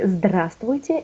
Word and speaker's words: здравствуйте: No, of course it's hard, but if you will see, like from the slide, we never pronounce, like B in English, we not pronounce. We write it, but we do not pronounce.